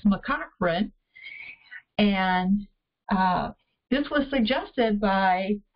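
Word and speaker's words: McCaughrean: than before knowing what that was so it's mccochran and this was suggested by we believe a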